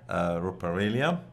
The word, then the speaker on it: Ruperelia: We do have today Pastor Peter Ruperelia. Did I pronounce Perfect.